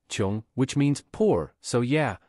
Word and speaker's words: 窮: No wonder 睘 means "to stare" and "to be alone and helpless " Same sound as 窮/穷 (pronounced "qiong"), which means "poor", so yeah not exactly sunshine